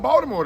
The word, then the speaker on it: Baltimore: Well, I learned something about Baltimore though. You know, I learned that I can't say Baltimore. No. Baltimore. I got to say Baltimore. Yeah. You got dragged. you got dragged. The T is a D.